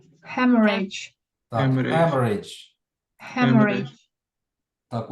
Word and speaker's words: hemorrhage: Hemorrhage. Hemorrhage. Так. Hemorrhage. Hemorrhage. Hemorrhage. Так, ось тут наголос виходить. Ставиться зліва від складу.